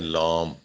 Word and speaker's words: لام: حروف مقطعات یعنی الف، ہم اکثر پڑھتے ہیں لام، لام کوئی حرف نہیں، عربی کے لہجے میں لام ہے ہی نہیں، لام، سمجھ رہے ہیں؟ لام نہیں بلکہ لام، الف لام میم، لام، سمجھ رہے ہیں؟